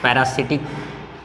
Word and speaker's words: parasitic: है, वो है बच्चों पैरासाइटिक प्लांट्स। क्या था उसका तीसरा नाम? क्या है? पैरासाइटिक। PARASITIC, पैरासाइटिक plants. पैरासिटिक, कुछ लोग पैरासिटिक भी बोलते हैं इसको, ठीक।